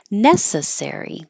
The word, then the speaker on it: necessary: idea necessarily and then when it's an adjective the stress is on the first syllable necessary that's not necessary and the noun necessity